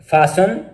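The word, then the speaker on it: fasten: मंदरजा जो वर्ड्स हैं इनमें टी साइलेंट है। कैसल, फासन, लिसन, ऑफन, thistle, whistle.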